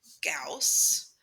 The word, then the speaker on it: Gauss: first name was carl carl friedrich gauss which just happily rhymes with fous spelled differently but um so this